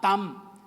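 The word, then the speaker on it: טעם: aquí proviene del hebreo tan Team con acento en la primera a tan y significa literalmente saborear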